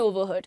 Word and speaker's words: overhead: The budget consists of personal costs, materials and overhead. Now, overhead नहीं head.